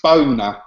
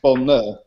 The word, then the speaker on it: Bonner: They think it's Boner. Oh, of course, my name is. I've got 2 N's in my name, so it's pronounced Bonner. Not Boner, but I'll get that